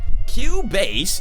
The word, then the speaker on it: Cubase: obs all of my audio is going through cubase because i'm a musician i'm a composer for video games if you guys wanted to know what i've written boom all right q bass it's spelled c-u-b-a-s-e but uh yeah it's just they